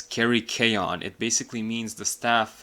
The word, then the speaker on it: Kerykeion: I had to look up how to pronounce this guy's name properly, so it's Kerykeion.